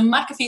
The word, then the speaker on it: McAfee: We've decided we're going to go with the Irish version of the pronunciation of the name, because I hear a lot of other, I'm going, no, McAfee sounds much better to me.